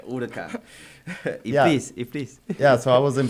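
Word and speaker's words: Huracán: is it huran urakan hurakan yeah second division pronunciations urakan yeah so I was in P until I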